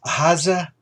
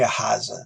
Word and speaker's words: Ahaziah: looking this up because it's hard to pronounce, Ahaziah, we'll say Ahaziah. That's as close as someone will be able to get.